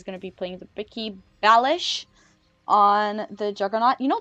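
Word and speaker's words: Balázs: Someone corrected me about the fact that it's pronounced Balish, like Balaz, you know, me trying to be, I don't know, Hungarian. But the thing is that my original surname had that S in it, and I know that it's supposed to be pronounced like an SH.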